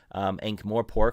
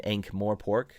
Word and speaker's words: Ankh-Morpork: In my head, it's always been Ankh-Morpork, not Ankh-Morpork or whatever.